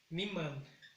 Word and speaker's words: niman: Luego es niman, miman. Igual, el sonido más fuerte en la primera sílaba.